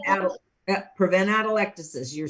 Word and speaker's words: atelectasis: prevent atelectasis.